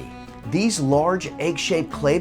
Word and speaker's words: qvevri: and add the use of qvevri (kvevri) (pronounced “kway-vree”) These are large, egg-shaped